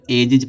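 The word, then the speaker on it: ages: अब जब जी ई लास्ट में आया है, अब इसमें यस जोड़ेंगे तो क्या निकलेगा, यस उच्चारण जा निकलेगा, इसको एजिज पढ़ा जाता है।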